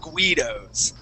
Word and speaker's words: Guido: We don't have hardly any others, but yeah, we don't pronounce that U.